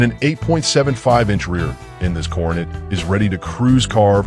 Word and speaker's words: Coronet: The 1967 Dodge Coronet 440, pronounced Coronet, dressed in bold blue and powered by a freshly rebuilt drivetrain that's all about street cruising satisfaction.